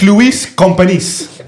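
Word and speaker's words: Lluís Companys: The stadium name is Olympic Luis Companys.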